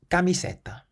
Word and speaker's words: camiseta: Camiseta. Camiseta. It means t-shirt. So the C is pronounced like a K. Camiseta, because it's followed by an A.